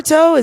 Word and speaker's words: Naruto: Yeah, I was gonna say that you shouldn't have done Naruto am I saying it right?